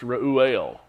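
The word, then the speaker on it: Reuel: L is how we spell it but it's pronounced Ruel and he is uh we were told in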